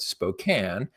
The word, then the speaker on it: Spokane: And next, we'll head over to Spokane, Washington. I know it's it's spelled Spokane, but we pronounce it Spokane.